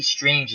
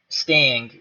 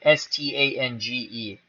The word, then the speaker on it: Stange: And coming into pitch, Lee Strange is really... Lee Stang, whatever. I never pronounce his name right. S-T-A-N-G-E. Stange, I don't know.